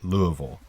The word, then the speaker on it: Louisville: And Louisville, Colorado, Louisville, Georgia, Louisville, Ohio, but Louisville, Kentucky, which they actually pronounce it more like Louisville.